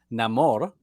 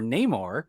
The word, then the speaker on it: Namor: tanakuerto who plays uh no more Namor or Neymar like they pronounce their multiple ways in the movie yeah yeah what did